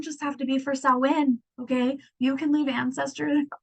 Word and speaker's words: Samhain: So some colors for Samhain, or sorry, Samhain. Black, orange, gold. I told you my dyslexic ass looks at that word and wants to say it phonetically.